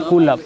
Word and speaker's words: कुलप: कुल का कुलप, कुल पर नहीं, कुलप, उच्चारण शुद्ध कुलप होगा।